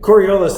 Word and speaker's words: Coriolis: Rhymes with aurora borealis. Is that right? No, it doesn't really rhyme. Kind of. Anyway, Coriolis, that's the mythological toilet